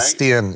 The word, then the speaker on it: Steen: Steen, right? Steen, yes, sir. So Steen, is that Steen, yes, sir. Okay, I'm going to pronounce it correctly.